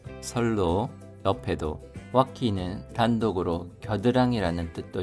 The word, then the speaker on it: 線路: 로가 짧은 발음입니다.線路脇にも 선로 옆에도.